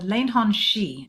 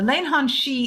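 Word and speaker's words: Leannán Sídhe: of before called the lanon shei now my Irish is not good I do not speak Irish that's what I think it's how I think it's pronounced it's spelled many ways uh but the lanan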